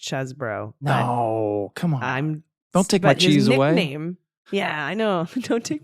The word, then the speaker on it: Chesebro: I guess it's pronounced Chesbro.